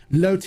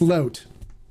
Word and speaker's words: Lote: voice on this uh it's pronounced not lots or lot it's pronounced okay no really I speak English I know it's pronounced Lotte but when I'm speaking English I go in English mode it's load so if you don't